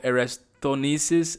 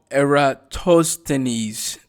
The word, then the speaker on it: Eratosthenes: out in math the sieve of aristonisis i'm sorry i mis might have prunus pronounced his name but um that is one way so it receive of eratosthenes that's how what uh